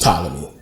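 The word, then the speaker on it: Ptolemy: story but they got into Witham uh or talami thei Philadelphia we can say tmy I say Talam it's just a thing but it's pronounced talmy but um they got into a war and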